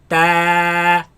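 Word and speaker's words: ت: Keep the sound of this letter solid. Do not spit it out. 2 mistakes that people make in regards to pronouncing this letter. It is that first they pronounce it from other than its home, its makhraj. They place the tongue behind the bottom teeth, right, and produce a sharp sound such as ts, ts, ts, ta.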